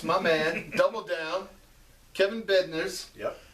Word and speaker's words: Bednarz: My man, Double Down, Kevin Bednarz. Yep. Bednarz.